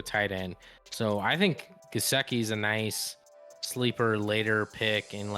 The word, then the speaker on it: Gesicki: I like Gieske, but I think it is Gesicki.